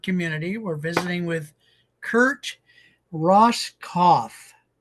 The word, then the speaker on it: Roskopf: We're visiting with Kurt Ross Cauth. So, the P is silent.